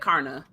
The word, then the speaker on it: Karna: I also really liked how do you say his name? Karn? Is it Karna? Karna. The Karna? audiobook said Karna.